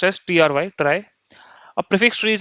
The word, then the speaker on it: Trie: So, if you look at here a try pronounced as tr y try.